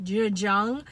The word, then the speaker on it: Zhejiang: Yeah, like, we need clean water, There's a province in China named, it's spelled Z-H-E, one word, Zhe, and then Jiang, J-I-A-N-G, Zhejiang, which is not too far from Hong Kong.